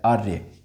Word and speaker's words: आर्य: ठीक बताइए आर्य में क्या हो जाएगा देखिएगा आ र का उच्चारण कहां हो रहा है य से ठीक पहले आर्य बोल के देखिएगा र धन य धन